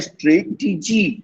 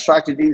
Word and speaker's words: strategy: at the same time you can't say straight dg you can't say it's strategy that's a nice strategy strategy that you adopted